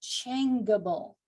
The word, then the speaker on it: changeable: The G would be followed by an A and it would be pronounced changeable. So in this exception, the E is retained in the word changeable, so the G can continue to say J.